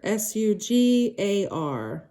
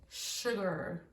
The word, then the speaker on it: sugar: desserts very sweet sugar s-u-g-a-r sugar sugar if you noticed even though there's not an sh at the beginning of the word you pronounce it like you hear an sh sugar sugar number 29